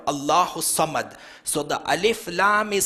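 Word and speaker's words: اللهُ الصَّمَد: is a drum and you don't say Allah who a summit you join it together Allah who summit so the alif laam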